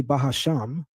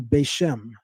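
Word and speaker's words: בשם: They're the ones that say Bahasham. No other communities of Hebrew Israelites that are completely not connected to one west pronounce this word that way. We call it in Hebrew Bashm.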